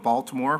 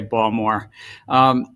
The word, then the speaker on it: Baltimore: He is a native of Baltimore, pronounced with a soft D, not a hard T, and Chair Gensler is the proud father of 3 girls and a graduate of Wharton.